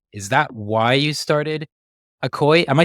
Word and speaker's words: ACOY: of that out is that why you started okoy am I saying that right how do I pronounce the yeah that's right okay okay awesome